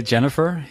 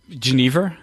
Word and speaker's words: genever: Jennifer also uh a lot of people say Jennifer in the US and uh it's like the name it sounds really exotic and I love it yeah so Geneva uh also a nice uh pronunciation of of the of the word of the of the Spirit uh in Belgium we say uh genev genev yeah oh okay I